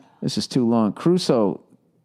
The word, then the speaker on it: Crusoe: Robinson Caruso. Um, Cruso. Huh? Cruso. The way it's spelled. C R U S O E. Robinson Cruso. Everyone says Robinson Caruso, but it's looks like Cruso.